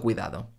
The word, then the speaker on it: cuidado: diciendo en dejar mucho cuidado cuidado no cuidando estos tres fenómenos sólo